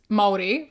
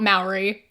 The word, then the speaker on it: Māori: Firstly, you're pronouncing it wrong. It's Maori, right? Not Maori.